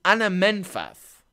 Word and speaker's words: Anamfath: Plural version is Anamfatha. Singular version is Anamenfath.